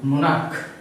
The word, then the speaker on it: monarch: Monarch, the very noun ends with ch, but it does not pronounce as cho, rather it pronounces as ko. Pronounces monarch, not k exactly. Sorry, ko. It pronounces k, monarch.